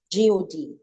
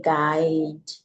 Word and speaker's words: God: However, in the pronunciation, I think that's the word God, G-O-D. I get that most times. Most singers, you know, you can be carried away with a lot of what I call a fizzy singing. You can just say guide, you know, all those kind of things, but it's God, right?